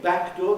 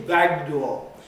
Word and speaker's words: back door: things like this uh instead of saying back door they say baghdal instead of saying baseball